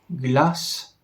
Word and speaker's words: glass: jest las oraz Gloss Glass Gloss w pierwszym z tych wyrazów mamy do czynienia z krótkim App właśnie dlatego że są dwie litery S po literze a Glass Dlatego ta samogłoska jest krótka brzmi ona w zasadzie